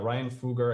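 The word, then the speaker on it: Ryan Fugger: so um so yeah ryan fuger i think is is how he he pronounces it oh thank you um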